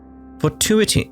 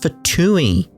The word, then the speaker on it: Fatui: in the archon war fatuity no Mei is pronounced for Tui this is a first